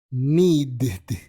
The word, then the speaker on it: needed: Tendríamos entonces needed y wanted. Needed, wanted. ¿Ves cómo ahí sí suena un poquito la ed y no es ed sino una I corta con la D o la T?